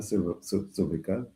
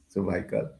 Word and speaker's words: cervical: Um again if you do the research you know you you see there are groups dealing with cervical that's the pronunciation cervical cervical.